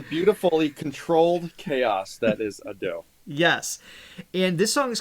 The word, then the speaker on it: Ado: five minutes looking up how do you say is it ad da ad do Ado ad do yeah ad do pretty play it one more time okay that's what we're going with if it's wrong it's